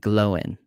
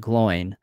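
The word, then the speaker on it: Glóin: prefer the latter yes so proper way to say their names is owen and glowing so i know in the films it said oin and gloin but that is actually not the way um that tolkien's works tells us it is pronounced and if you actually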